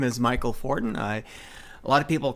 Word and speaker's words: Michel Fortin: So I decided to keep that as a nickname, and now I call myself Michel Fortin, although my name is pronounced Michel Fortin, which is a very French-Canadian name.